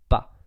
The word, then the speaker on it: pas: And pas, you write it with a final S, but you don't pronounce it. Once again, it's like a very silent letter. You have to write it, but you don't say it out loud. So it's pas, ne pas.